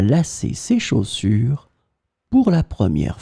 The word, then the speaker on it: lacer: In this lesson, we will see together two words that are written differently but pronounced the same way. Lasser, lasser. So we'll start with the first one, lasser, and we'll have two examples.